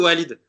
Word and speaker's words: Walid: On dit Walid ou Walid ? Walid. Walid Regragui.